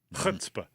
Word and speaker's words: chutzpah: Chutzpah. Oh, very well pronounced.